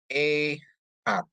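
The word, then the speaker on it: אֶחָד: Untuk Alep dikasih segol, dia bacanya E. Het dikasih kamat, bacanya K. Sama dalet ya. Jadi bacanya jadi E-hat ya.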